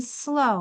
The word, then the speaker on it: slow: O is silent, and in slow, where the W is silent.